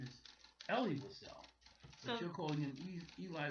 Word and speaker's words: Elie Wiesel: The author's been known all my life as Elie Wiesel.